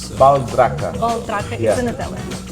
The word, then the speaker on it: Baldracca: Baldracca. Baldracca Yeah. is in Italian. Yeah, it's an Italian word, yeah. But I'm Brazilian, and we have a different pronunciation that we say Baldracca.